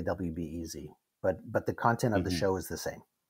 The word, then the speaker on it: WBEZ: How do you pronounce that when you do the show? Do you have to say WBEZ? I say WBEZ, yeah.